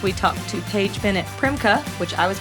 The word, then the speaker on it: Primke: And this week we talked to Paige Bennett Primka, which I was pronouncing Primkkey, now learned it's Primka.